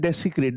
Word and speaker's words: desecrate: It should be spoken desecrate not desecrate.